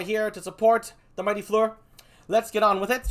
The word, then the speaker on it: Fleur: And he knows his French, to an extent, for the name FLEUR. It's French, FLEUR.